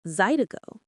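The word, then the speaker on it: zydeco: In the swift, slurred pronunciation of Louisiana Creole French, Le Ericos came out sounding like Zido, the name stuck, forever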